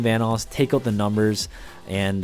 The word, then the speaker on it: Vanoss: to this channel obviously my name is pronounced vanoss and if you guys